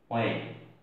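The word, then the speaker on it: when: W এর পরে যদি H থাকে তাহলে সেই H-টা উচ্চারণ সাধারণত হয় না।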